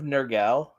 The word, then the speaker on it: Nergal: Did you say the son of Nergal? Yeah, Yeah. that's how it's pronounced in the movie. Son of Gosh. Nergal.